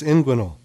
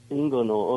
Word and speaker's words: inguinal: is it a name I don't know how you pronounce it in Ingle yeah you're close inguinal inguinal okay I have I